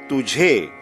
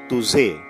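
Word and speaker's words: تجھے: We say tujhe, not tuze. This word again is commonly mispronounced by people who have learnt in a certain language. Tujhe and not tuze.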